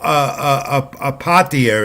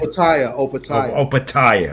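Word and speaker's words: Opetaia: I want Joe Apatia is cruiserweight title defense also on the zone this weekend. Opatia, right.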